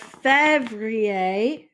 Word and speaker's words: février: Next, we have février, février, and février is February. February. And so that's kind of pronounced the same way. We have Fev, Février.